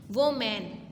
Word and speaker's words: women: मैन होता है ना, लेकिन यहाँ पे वोमेन है। वोमेन है, यहाँ पे वेमन है, WOMEN वेमन।